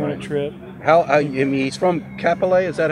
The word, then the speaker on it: Kapolei: He's from Kapolei, is that how you pronounce it? Kapolei.